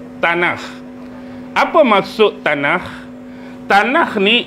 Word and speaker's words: Tanakh: Pernah dengar perkataan tanah? Pernah dengar tak? Pernah. Ejaan dia T A N A K H T A N A K H tanah.